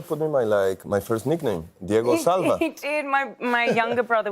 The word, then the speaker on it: Diego Calva: Got it right, and then on stage said Diego Salva.